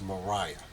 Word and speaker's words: Maria: a r i a Maria sources close to her say that it was actually pronounced Mariah um but for the